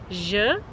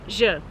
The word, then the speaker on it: ž: The sound is not very hard to pronounce because French has the same sound, like in the word bonjour, as you might know.